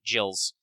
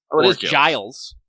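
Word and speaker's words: Gilles: since I mentioned it is actually pronounced uh with a J sound jills Giles if you want to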